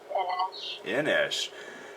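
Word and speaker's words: En Esch: Inesh. That's one that always... Huh? It's like Nick Schandelmeyer. That's like his full name, and Sasha suggested that he go by N-S, his initials, N-Esh.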